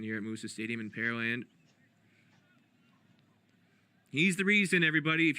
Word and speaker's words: Pearland: here in pearland texas for a lot of people curious about the pronunciation pear land the land where they grow pears it's easy way to think of it it's not where they have pearls there's no lake or